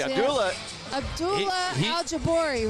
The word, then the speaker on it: Abdullah Aljuboori: See, Abdullah Aljuboori, right?